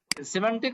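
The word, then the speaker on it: semantic: আচ্ছা এর আগে আমরা গত গত ক্লাসে যে আচ্ছা এই শব্দটার উচ্চারণটা আমি মাঝে মাঝে ভুলে যাই। সিমেন্টিক সিমেন্টিক।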